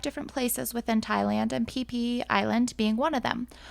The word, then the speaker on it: Phi Phi: made me uncomfortable so I'm saying Fifi Island but it is PP Island they pronounced pH P Mark and